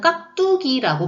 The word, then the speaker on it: 깍두기: 우리가 보통 발음할 때는 깍두기라고 발음을 하는데 한글 맞춤법에는 기역과 비읍 받침 뒤에 나는 된소리는 같거나 비슷한 음절이 겹쳐나는 경우가 아니면 된소리로 적지 아니한다 라는 문장이 있어요.